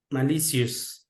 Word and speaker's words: malicious: Malicious. Again, malicious. Malicious. Say delicious. So it's malicious.